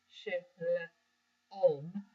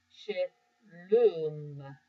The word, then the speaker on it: Shalom: Should not be punctuated as a long O sound. Shalom. It should be a long U. Shalom.